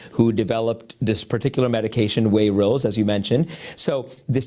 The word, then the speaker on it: Wayrilz: It's called Wayrilz. It's Wayrilz.